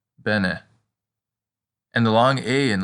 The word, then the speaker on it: bene: we can practice with bene which means well as in you speak latin well it sounds just like benefit bene and the long a